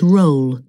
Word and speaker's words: roll: like green and magazine doll will never rhyme with roll rolls like hole and also goal slower doesn't rhyme with